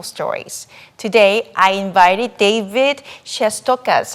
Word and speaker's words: Shestokas: It's Shestokas. Shestokas, just the way it sounds.